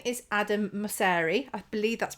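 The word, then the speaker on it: Mosseri: the same area um his name is adam masari i believe that's pronounced correctly i have done some research so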